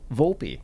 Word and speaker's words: Volpi: He is Matteo Olive Oil Volpi. Did I pronounce the last name correctly?